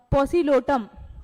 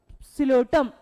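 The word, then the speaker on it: Psilotum: फिर क्या है टेरिडोफाइटा का पॉसिलोटम, दूसरा क्या है पॉसिलोटम। ठीक है, क्या है सिलोटम, सिलोटम बोलना चाहिए इसको अगर अपन प्रोनाउंस करें तो, सिलोटम।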